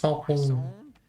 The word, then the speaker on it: Poisson: Poisson. There's no W in it, but I was told that that's how you say it. I guess it's French.